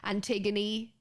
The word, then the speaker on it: Antigone: words, you have this, if there's an E on the end, you actually say the E, Antigone.